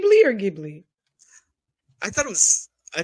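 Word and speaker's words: Ghibli: perfect all right for the record it is pronounced gibli yes it is GI Okay g it is GI not gimly not the dwarf no not the dwarf G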